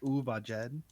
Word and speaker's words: Uhvajhed: I think the close way to say it is Uvajed.